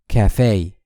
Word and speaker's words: cafe: cafe.